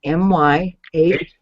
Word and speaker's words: Myhaver: And Myhaver is spelled M-Y-H-A-V-E-R. Myhaver. It's pronounced not your Haver, Myhaver.